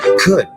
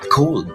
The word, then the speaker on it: could: Una, could, not cold.